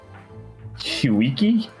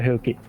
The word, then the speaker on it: Huki: That's how I used to like pronounce it. Huiki? Huiki, yeah. Where are you getting that? Because it's H-E-W. No, K-I-I. Marco, go back to Huki. Huki. Huki, Huki. Yeah, not Huiki.